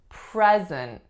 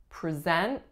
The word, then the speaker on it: present: isn't as a verb as in I want to present this person to you we are putting a schwa on the first syllable our strongest syllable is the second and it makes the sound at present versus present next